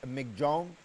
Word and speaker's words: Michaung: pronounce it uh is supposedly supposed to be pronounced as MC Jong uh is named by Myanmar and means strength